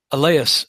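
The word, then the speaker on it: Allais: You may also want to just Google the alas effect. I think that's how you say it. A L L A I S, which describes how, oddly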